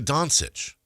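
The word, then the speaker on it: Dončić: Luca Donsich, right? Yeah. Okay. I I can't I can't afford to mispronounce I can't do I that can't be a thing.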